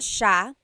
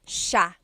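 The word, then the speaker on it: siya: to point out about sha. First is the pronunciation. It looks like it should be pronounced sa cia. But it's actually pronounced sha sha. So the s i y it's a sha sound.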